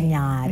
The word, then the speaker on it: Ntinyari: Because that's how you pronounce Ntinyari. Ntinyari.